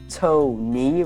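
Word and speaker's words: Tokne: And um it's about to knee, which is spelled T O K N E.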